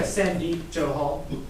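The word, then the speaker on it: Sandeep Johal: would you state your name too so yeah sandy joe hall could you spell that s-a-n-d-e-e-p last name joe hall j-o-h-a-l thank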